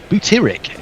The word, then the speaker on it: butyric: said now we've added butaric acid as a recommendation to our chocolate clients oh well it's interesting because it's not felt it's butyric in terms of um phonetically b-u-t-y-r-i-c oh i wasn't reading